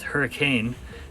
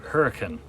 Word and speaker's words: Hurricane: even though the city looks like it is hurricane they pronounce it hurricane so that you know that'll that'll help you fit in if you go to hurricane just to know the pronunciation there anyway the